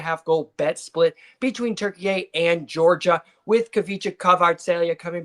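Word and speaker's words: Türkiye: Uh it's pronounced turkey a.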